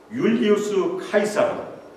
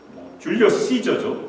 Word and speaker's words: 율리우스 카이사르: 유대인들은 율리우스 카이사르, 줄리어스 시저죠. 영어 발음으로는.